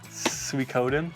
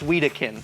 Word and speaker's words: Suikoden: Suikoden. Very good. What have I said in the past? He's always said Suikoden? Sweetakin. Sweetakin or something like that, and I've said it wrong so much.